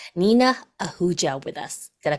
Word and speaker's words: Nina Ahuja: am so excited that we have Dr n Nina auua with us did I pronounce it right did I do good yes